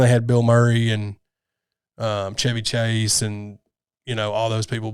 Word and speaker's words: Chevy: But his is pronounced Chevy. Yeah, it's pronounced Chevy, but it's spelled the same way.